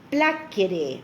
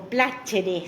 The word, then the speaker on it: placere: La palabra placer viene del latín placere o placere, según la pronunciación del latín. Hay unas que hacen la pronunciación latina o italiana.